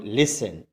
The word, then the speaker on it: listen: लिसन, LISTEN, लिसन। इट is pronounce लिसन टू मी, लिसन टू अस, लिसन